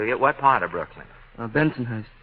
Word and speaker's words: Bensonhurst: Bensonhurst. Bentonhurst. Now you go Bensonhurst. Benton. Oh, you're a middle syllable man from the word go, aren't you?